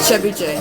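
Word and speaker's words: thiéboudienne: So how is this pronounced again? Chakri? Yeah. Chakri? Okay. And then Chebuje Yes. for the fish.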